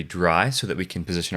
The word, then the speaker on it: drei: By the way, in my other video, I pronounced it React 3 Dre. I apologize for that. It's actually pronounced dry. and dry is actually the number 3 in German.